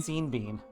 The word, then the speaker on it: Sean Bean: So mad that Shaun Bean are not like both his names aren't pronounced the same way. Sheen Bean. Seen Bean. Sean Bean.